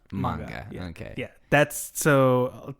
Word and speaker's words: manga: Like if we want to be for real, it's manga. Yeah. Okay. Yeah. That's so typically a lot of these anime stem from manga, which manga is just a Japanese version of a comic book.